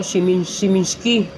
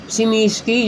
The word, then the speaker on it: Smiski: toys or us yata saeta so naghahanap ako shiminski o shimimi kaya pala sabi ni kuya shoutout sayo kuya sorry hindi ko alam yung Mong tamang pronunciation. Shimski pala. Shimiski. Shimisky yun guys.